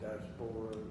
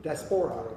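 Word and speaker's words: diaspora: Daspora. Daspora.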